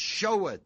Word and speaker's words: sheweth: The word sheweth, or S-H-E-W, is not sheweth. It's like pronounced like S-H-O-W.